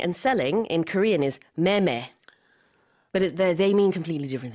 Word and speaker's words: 매매: So the pronunciation is the same. Oh, different wow. characters, oh. Different hancha, but purchasing and selling in Korean is meme.